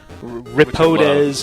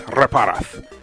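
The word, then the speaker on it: Reparaz: Nobody in this fucking country can remember how to spell or pronounce my name for more than 5 seconds. Get Reparez, Ripodes. Yeah, I've heard every permutation. Dr. Parez.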